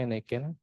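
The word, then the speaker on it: n8n: Yang pertama ada Nen ya atau N8 ini dibacanya Nen.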